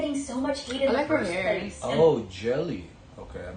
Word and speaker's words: Gehlee: so much hate in the first place oh jelly okay I mispronounced it jelly okay why should we be